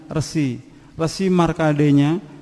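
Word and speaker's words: Resi Markandeya: Islam ayah bunda ya, jadi bahasanya kita pakai ejakan Sanskrit asli, jadi bacanya Resi Markadenya dengan beberapa sapi juga kerbau yang berwarna putih.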